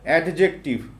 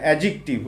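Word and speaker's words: adjective: তোমরা চিরাচরিত একটা ভুল করে আসো, তোমরা বলো অ্যাডজেক্টিভ, উচ্চারণটা হচ্ছে অ্যাডজেক্টিভ। ওকে, অ্যাডজেক্টিভ হচ্ছে বিশেষণ পদ।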